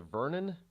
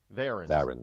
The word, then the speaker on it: Varon: The Vernon dossier? Varon dossier. Yeah. VARON, Varon dossier.